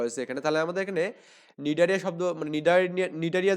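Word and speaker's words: Cnidaria: আমাদের এখানে নিডারিয়া এটা বানানটা একটু ভালো করে দেখবেন সি এন আই ডি এ আর আই এ নিডারিয়া আবার অনেকে সি বাদ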